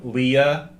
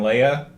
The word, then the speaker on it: Leia: care weird ways of pronouncing these name Wando Leah how do you pronounce it Lando and Leia like they're supposed to be math whatever you